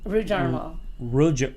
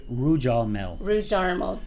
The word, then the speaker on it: Rudarmel: Rudarmel. Rudarmel. Rudarmel. See, if it's yeah. Oh, Kris. Rhymes with caramel. Caramel. Rudarmel, caramel. Caramel.